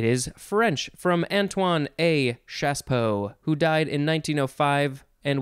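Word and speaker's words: chassepot: spelled c-h-a-s-a-a-s-s-e p-o-t c-h-a-s-s-e it looks like chas pot but you say shaspo noun from 1869 it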